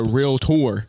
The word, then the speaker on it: Realtor: real T she's a real tour it's on the cup there's two syllables real tour so that's unbelievable now